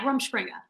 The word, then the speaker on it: Rumspringa: Yeah, Rumspringa.